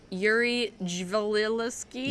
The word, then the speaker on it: Yuri Dzivelevski: Yuri Dzivelevski.